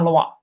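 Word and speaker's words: Louis: Ditulisnya adalah gini, Lois X. Tapi dibacanya adalah Loa karena dia pakai bahasa Prancis.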